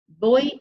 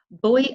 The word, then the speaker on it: voy: Voy a tener, which means I'm going to have. Now be careful with this. It's voy, not voy a tener. It's because our V's are pronounced as B's.